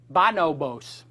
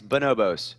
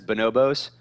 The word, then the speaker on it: Bonobos: bonobos but you said bonobos no it's bonobos so kind of like bananas bonobos so like lowercase b